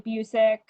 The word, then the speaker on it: Busick: So I really want to thank Busick. Did I say your last name right? Yeah, rhymes with music.